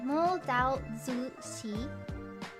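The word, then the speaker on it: Mo Dao Zu Shi: I don't want to offend by getting the pronunciation wrong. Did I get it right? I got it right? Okay, Mo Dao Zushi.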